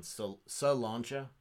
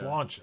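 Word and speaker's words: Slàinte: No, there was one about me saying Salancha. Oh. It's not Salancha. Slancha. It's Salon. Yeah. Slancha. It's like one. I make it 2 syllables.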